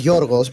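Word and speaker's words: Γιώργος: Because George is not George, is Yorgos, but we don't say Yorgos because you Yorgos. can't pronounce it.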